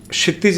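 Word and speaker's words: क्षितिज: पहला तो मैं क्षितज मेरा नाम हुआ। क्षितज जी ठीक है थोड़ा सा प्रोनाउंसिएशन में दिक्कत होती है और 28 दिसंबर नहीं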